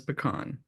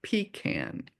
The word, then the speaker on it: pecan: The proper pronounce pronunciation is pecan, not pecan as it is pronounced in the south.